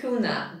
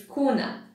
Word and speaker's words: kuna: Even 500 kuna bank... Kuna, I said kuna again, it's kuna.